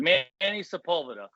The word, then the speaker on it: Manny Sepulveda: two hands you could probably count the people butchered your name but we got it Manny Sepulveda uh Manny welcome to the show congrats on